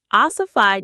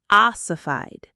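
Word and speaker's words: ossified: So oified means to become rigid, inflexible and resistant to change. Let's practice the pronunciation. The stress is right at the beginning. Oified. Oified.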